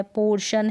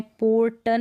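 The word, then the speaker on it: portion: है, आई ए है, तो इस तरीके से आप समझ जाएंगे कि टी को वहाँ पर हम श पढ़ेंगे। जैसे कि पेशेंट है, रेशो है, उच्चारण यहाँ पर दे रखा है, रेशो है, पोर्शन है, और पार्शल है, क्या है, पार्शल है। अब इसको पेटेंट नहीं पढ़ते हैं, रेटो नहीं पढ़ते हैं, पोर्टन नहीं पढ़ते हैं, पार्टियल नहीं पढ़ते,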